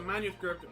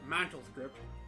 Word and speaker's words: manuscript: All I did was find out if the manuscript, or whatever you called it, mantelscript, she mispronounced it, really was there or not.